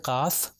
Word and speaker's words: قاف: طرح کیا جاتا ہے۔ تو یہ قاف جو 2 نقطے والا ہے یہ تھوڑا موٹا پڑھا جاتا ہے، تو اس لیے میں